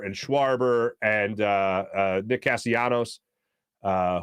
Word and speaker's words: Castellanos: schwarber and uh nick castianos uh who by the way um hispanic not greek as i thought for many years i was pronouncing the castellanos not right janos castellanos uh just for a